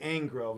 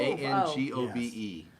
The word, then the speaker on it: Angove: was about to say Angrove, and that's yeah, wrong. there's no R. That's what we learned last Angold? week. Ango. Ango. Gove. Angove. Angove.